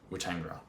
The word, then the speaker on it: Weetangera: on field, which has been between Jamison and Weetangera, which I only just now learned how to pronounce.